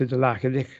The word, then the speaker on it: LaTeX: The next one, this may be of less interest in the humanities because LaTeX, this is the key, the Greek letters key, so it's pronounced LaTeX.